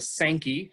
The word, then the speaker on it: Sankey: So they dug what we in Redlands call the Sankey, S-A-N-K-E-Y is largely how locals pronounce it.